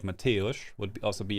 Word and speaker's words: Mateusz: A name of Polish origin. Mateusz. Mateusz. Mateusz. Mateusz. Is how it is said in Polish.